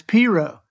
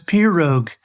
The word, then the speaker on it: pirogue: And the other is Piro. The G is silent in that. It's like the Carpenters song. Yep. He says pirogue.